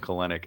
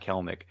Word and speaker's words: Kelenic: I just realized I was calling him Kelenic and not Kelnic.